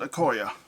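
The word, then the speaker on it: Okoye: which is all right yeah that's how you pronounce it okoya okay and that's our fairly busy turn this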